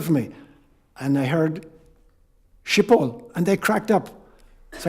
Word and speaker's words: Schiphol: No matter how many times they told me how to pronounce the word Schiphol, that phoneme is not in Irish or in English.